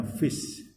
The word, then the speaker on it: fis: Maka ini bukan fa lagi ya, tapi dibacanya fis.